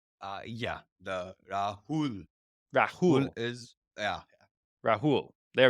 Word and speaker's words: Rahul: uh really happy to have you uh my pronouncing name correct Raul uh yeah the Rahul Rahul is yeah Rahul there we go you're